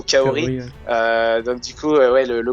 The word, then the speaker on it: Kaori: certaine manière, notamment putain, chaque fois c'est la prononciation française qui m'induit en erreur. J'avais presque envie de dire Laura, mais plutôt Kaori.